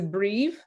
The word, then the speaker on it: breve: And then the bre is a breve. Yes. Because there's it's VE at Mm-hmm. the end, but that's because V never stands alone, but it indeed is a long E sound.